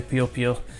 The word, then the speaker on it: Puyo Puyo: So in Japanese we say Puyo Puyo, and I lived in Japan for 5 years, so that's kind of stuck. You probably know it as Puyo Puyo, so I'll try and say that.